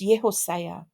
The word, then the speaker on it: Josiah: was born my baby to pronounce his name correctly it's yosa and his name is that